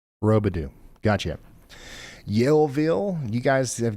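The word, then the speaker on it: Roubidoux: Sounds like Rubadoo, Missouri is pronounced Rodu. Robadoo.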